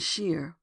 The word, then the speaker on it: shire: spelling his triumph and shire is pronounced as spelled yet the old Yankee